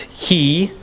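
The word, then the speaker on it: היא: So this was an H, right? And this is E. So this is just pronounced he.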